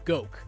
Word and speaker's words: Goke: It's pronounced like Coke, except with a G. It's pronounced Goke. Because I mispronounced it during the contest announcement when I was announcing the winners, and was corrected later on through email that it is actually pronounced Goke.